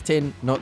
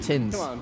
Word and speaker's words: Tin: It's Tin, not Tins.